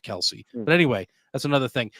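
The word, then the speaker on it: Kelce: by Jason and Travis Kelsey. I saw somewhere where everybody's saying their name wrong, and it's like Kels instead of Kelsey.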